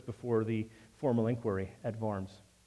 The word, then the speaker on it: Worms: the formal inquiry at varms it's if you look at the title in books it's the diet of worms it's not the diet of worms you got a German pronunciation W is a v so it's the diet